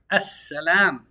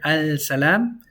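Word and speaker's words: السلام: We have the word as-salam. Why do we say as-salam with double S? Because technically there's a Shaddah on it. That S eats the lam. As-salam. You're never going to hear al-salam.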